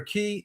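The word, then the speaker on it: cay: How about K? C-A-Y. Some people pronounce it key. Oh, yeah. But to me, key is K-E-Y. C-A-Y looks like K to me.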